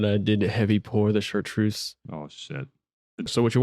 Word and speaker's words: Chartreuse: how to say it the French way. Chartreuse. Chartreuse. Chartreuse. Chartreuse. Repeat after me. Chartreuse. There you go. All in the throat.